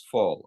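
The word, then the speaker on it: Voll: It's but pronunciation is fall.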